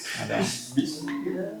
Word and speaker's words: Bismillah: Ba itu termasuk yang mempunyai sifat syiddah kuat ya. Jadi bacanya bi gitu ya. Bismillah.